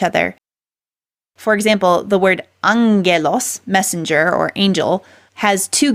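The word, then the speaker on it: ἄγγελος: so but you notice I didn't say AG gelos I said Angelos because two Gammas in a row it makes the sound as opposed to two hard G's so a hard G is like G like the G in golf but if you have two Gammas together the first one gets nasalized and so it's like something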